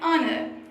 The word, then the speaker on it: honor: Same like this, we use and before the words are honest and honor because in these words the H at the beginning is silent. So when we pronounce these words, are honest, the opening sound is that of a vowel.